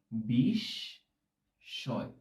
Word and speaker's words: বিস্ময়: বিস্ময় এটার উচ্চারণটা হবে, আমরা উচ্চারণ করব বিস্ময়। এইভাবে আমরা উচ্চারণ করব। কিন্তু অনেককে দেখতে পাবে যে এটাকে বিস্ময় বলছে। এটার উচ্চারণ মোটেও বিস্ময় নয়। এটির সঠিক উচ্চারণটা এই কারণে জানা খুব প্রয়োজন। এটার উচ্চারণটা হচ্ছে বিস্ময়।